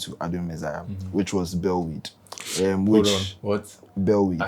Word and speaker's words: Bellwade: Bellweed. Spell it.